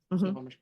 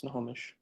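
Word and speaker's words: Snohomish: Snomish County, your honor. I'm sorry. What? Snowomage County. Spell that. S N O H or S N O H O M I S H. It's Snomish.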